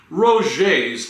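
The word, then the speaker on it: Roget: By the way, it has also come to my attention that you grievously mispronounced Roger's thesaurus. Ryan, say it after me, Roger's thesaurus. Oh, we got that straight?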